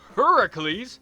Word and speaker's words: Heracles: the Roman gods so in ancient Greece his name is pronounced Heracles which is still a